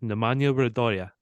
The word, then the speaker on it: Nemanja Radoja: Just as a reminder, I sent you the pronunciation that he says it himself. Nemanja Radoja.